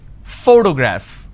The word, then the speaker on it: photograph: pronounce this particular word photograph the correct pronunciation is photograph which means i am stressing on this particular syllable which is the first syllable please give me the